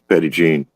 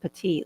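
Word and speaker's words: Petit Jean: Petty Jean because that's it's Petty Jean that's how you say it so it's not petite like I said first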